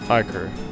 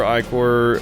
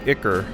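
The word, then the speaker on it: ichor: I'm saying iore I I think it's one of those words I've always pronounced like that since I was a kid but I'm guessing ier blood before ier start that soldier's ticker would make more sense that's one of those words where I've just been mispronouncing it since I was a child but it doesn't come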